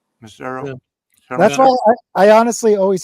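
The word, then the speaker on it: Macero: Producer Teao Marcero mo. Is that how you say it? Misero. It's I thought it was Mo. Teao. You are a jazz bomb. You don't know anything. It's missero.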